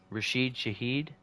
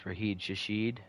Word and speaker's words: Rashid Shaheed: Rashid Shaheed. I don't know why I was thinking it's Raheed Shashid. That's definitely not right. Rashid Shaheed, I believe, is it.